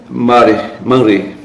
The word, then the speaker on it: Mamré: Uns falam Manre, mas aqui não dá Manre não, a pronúncia é Mamré.